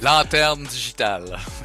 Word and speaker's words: Lanterne Digitale: Serge is the CEO and Chief Creative Director of Digital Lantern, or Lanterne Digitale, and I'm sure you'll have to say the French pronunciation better than myself. Lanterne Digitale.